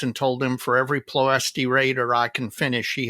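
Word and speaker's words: Ploiești: And on that comment, he says it is Ploesti. Ploesti, yes. Yes, accent on the second syllable and an SH.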